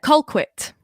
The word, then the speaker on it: Colquitt: how do you say your last name uh colquitt it sounds posh it sounds posh but it's